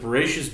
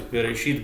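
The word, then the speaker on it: בראשית: Like I'll say, for example, let's start with Bereshis bara Elohim es hashamayim v'es aretz. That's more the Ashkenaz pronunciation, whereas Bereshit bara Elohim et hashamayim v'et haaretz, that's more the Sephardic pronunciation.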